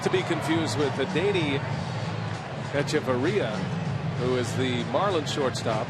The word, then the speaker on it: Hechavarria: Not to be confused with Adeiny Echeverria, who is the Marlins shortstop and has an H, which is silent, at the front of his name.